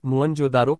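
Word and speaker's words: मोहनजोदड़ो: हड़प्पा तथा सिंध का मोहिन जोदड़ो मूल उच्चारण मोहनजोदारो शाब्दिक गर्थ प्रेतों का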